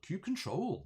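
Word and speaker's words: kubectl: that's that's very good um uh nappy depends cube ctl cube control cube control nappy that's a bit cute control that's a good way to pronounce it um now pete uh is the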